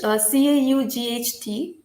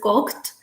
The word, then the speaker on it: caught: For example, in English, CAUGHT, the middle part of it is not pronounced as cocked, but is pronounced as caught, right?